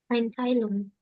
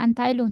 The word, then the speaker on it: Einteilung: Einteilung, Bukan Anteilung, coba bacanya gimana? Coba lihat tuh tulisannya. Bukan Anteilung. Apa Val?